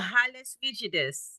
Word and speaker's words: Hallux rigidus: This is Halius rigidus.